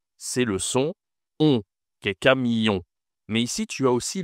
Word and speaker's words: camion: En fait, tu as ici le on c'est une nasale.